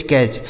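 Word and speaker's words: catch: कैच सी ए टी सी एच। कैच। Spelling ध्यान रखिएगा दोस्तों क्योंकि ये अलग तरीके से लिखा गया है लेकिन अलग तरीके से यहां टी का उच्चारण नहीं होता है।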